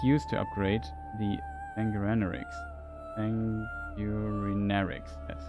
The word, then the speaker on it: Sanguinarix: Sanguinarix, that's how it's pronounced.